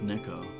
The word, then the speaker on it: neko: that actually the Japanese word for cat is pronounced Neko and you've been mispronouncing your own username wrong